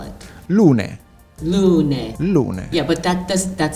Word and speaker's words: Lunae: You pronounce Lune. Lune. Okay. Because it's a Latin name. Okay. So that's one of my problems. Because of course, I'm an American, completely ignorant, no Latin whatsoever. So your logo, it's Lunae, Lunae, but there's a V, right?